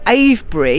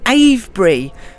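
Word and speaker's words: Avebury: Stone engine Druids the a BRI you don't pronounce the v in a BRI and I've been calling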